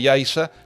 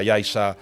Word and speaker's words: Yaiza: Cuando vean un canarismo que se escribe con Z, que lo pronuncien con S, porque esa Z ahí, la Z de Yaiza no representa una interdental, o la Z de Tazacorte, son palabras canarias, de origen prehispánico, ¿no?